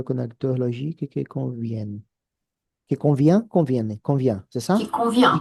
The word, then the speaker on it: convient: Qui convient?